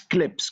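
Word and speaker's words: clebs: Alors, on prononce kleps comme s'il y avait un P à la place de B, c'est une contrainte phonétique.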